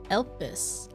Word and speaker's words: Elpis: Elpis.